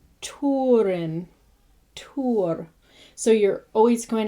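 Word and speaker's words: Túrin: be pronounced oo, like Turin. So you always want that oo sound. Tuna is tuna. So it's just as you would say tuna, tuna, Huron, Turin, Tur.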